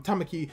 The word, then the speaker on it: Tamaki: to see her prince, as she's complaining to Tamaki, that's his name, I've been saying it wrong, Tamaki, about how he should be trying to help,